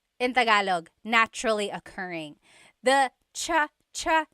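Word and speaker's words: tsa: Polyglot said it's like the word cha. Cha. In Tagalog is T like the tea that you drink. And it's spelled T S A. Cha. Cha. That's such a Tagalog spelling. I love it. There's the TS sound and then the double vowel uh pronunciation.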